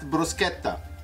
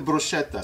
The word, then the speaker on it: bruschetta: to pronounce a bruschetta in Europe they call it bruschetta in North America they call it the bruschetta so either or this